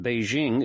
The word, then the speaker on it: Beijing: in the sense that Beijing is the correct pronunciation of the name in Mandarin Chinese however to refer to